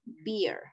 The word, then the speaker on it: beer: Ese es beer. Ajá, sonido largo, beer.